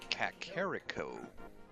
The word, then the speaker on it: Kakariko: one that you can access at the moment cacharico excuse me that's how it's pronounced fastest way to get there is save